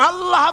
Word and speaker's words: আল্লাহ: আল্লাহ পাকের উচ্চারণটা হচ্ছে আল্লাহ পাকের নামের উচ্চারণ হচ্ছে আল্লাহ আল্লাহ মুখটা একটু গোল হয়ে যাবে বলেন আল্লাহ আল্লাহ সুবহানাল্লাহ